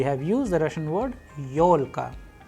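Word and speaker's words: ёлка: We have used the Russian word yolka, yolka, where you can see the stress is on yo because it is also a vowel. That is why Yolka.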